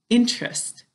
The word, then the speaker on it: interest: When we're talking, it sounds like it's 2 syllables. To spell it, it's 3 syllables.